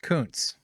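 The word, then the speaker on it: Kunce: the Senate oh yeah it's pronounced Koontz I saw that and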